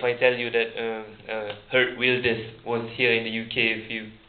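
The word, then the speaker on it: Geert Wilders: tell you that um her wers was here in the UK a few days ago that's new knowledge to some yeah did anyone know we say gear wers but the pronunciation is her wers that is another new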